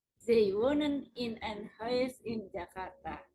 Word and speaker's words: wonen: Yang ditutup itu bacanya pendek, yang panjang itu yang tidak ditutup oleh huruf mati, jadi won't, stamnya won't, jadi tambah TC, won't in a house in Jakarta.